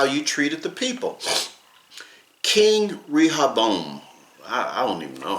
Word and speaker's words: Rehoboam: King Rehoboam, I don't even know how to pronounce that. It is Rehoboam, was the son of King Solomon and the grandson of King David.